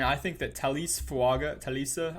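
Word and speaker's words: Talese: think that Talis fuaga Talisa I believe is how you say it fuaga is a great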